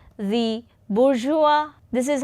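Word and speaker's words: bourgeoisie: poor class this Rich class is called the boura this is how this word is pronounced bua and this poor class is called the proletaria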